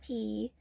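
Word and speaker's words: Piii: And then there is our Star Mother and Star Father, Star Mother P, which is a P-I-I-I, pronounced P, but we will just call her P.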